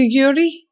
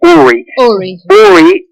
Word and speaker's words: Uri: first of all um can i call you yuri of course but my the actual pronunciation of my name is uri is a hebrew name it's actually an ancient